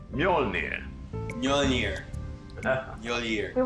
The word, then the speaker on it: Mjölnir: you I have to return them Joel it's pronounced Mjolnir you're near your ear you won't take up any more of your time mr.